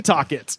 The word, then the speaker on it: Setauket: Setauket. Or Setauket. Okay, I'm glad you corrected. So, Setauket. Setauket.